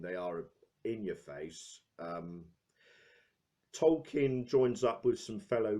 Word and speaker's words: Tolkien: of a rest with Tolkien or tokine they make a joke about that pronunciation in the movie itself directed by a dome